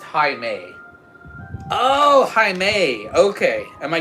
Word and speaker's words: Jaime: Jaime is pronounced Jaime.